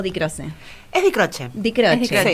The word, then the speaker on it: Di Croce: ¿Es Di Croce o Di Croce?